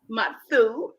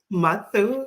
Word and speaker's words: Mathu: Roselee, I'm going to pronounce it right. Mathu. Mathu, that's correct.